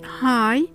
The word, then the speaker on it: high: The question is, when is the GH silent? As you might have noticed, after the diphthong sound A and I, as well as after the diphthong sound O or the vowel sound O.